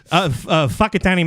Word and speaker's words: Whakatane: Whakatane Mountain. That's how they say it.